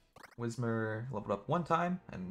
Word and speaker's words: Whismur: fact um or whismur i always mispronounce his name i always call him windsor but it's whismur yeah whatever it doesn't